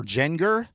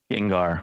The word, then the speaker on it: Gengar: a Japanese fossil uh is it Gengar or Genenger? Gengar. Gengar. Wow. Way off. Way off, JT. Gengar card. When you said Gengar, you were close. It's Gen. It's just Gengar.